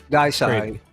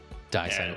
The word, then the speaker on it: Deicide: Usually DI is pronounced die. Yeah. Like Opus Die. I think it's Deicide. Deicide, okay. Like the German E. German, absolutely. It's German. What is that? What's the significance of that again? Oh, just like pronunciation in German, like EI makes an I sound, IE makes an E sound.